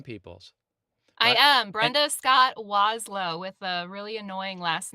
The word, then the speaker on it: Wlazlo: I am Brenda Scott Wlow with a really annoying last name that that uh looks nothing like it sounds. Yeah. Yeah. So, you pronounce it WLO. Yeah. The first L is silent and it's just a